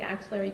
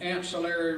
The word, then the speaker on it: axillary: the right side of the back near the axillary region or the axillary crease where your axillary crease is basically your armpit and the crease behind your arm. And you describe that as the ancillary region.